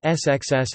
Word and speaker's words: scs: An example from the latter is SCS, seal fat, pronounced SXS, as spelled, and a longer one is Klachpiltplachosks, pronounced XPKTPSKTS.